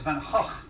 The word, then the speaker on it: Van Gogh: It's like it's not Van Gogh, it's Van Gogh.